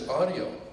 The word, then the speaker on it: Autio: Oh, here, I don't know how to pronounce his name. Oh, I said it's Autio.